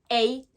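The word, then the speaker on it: sleigh: en anglais se dit Hey là dans ce mot là le H ne se prononce pas d'accord on finit le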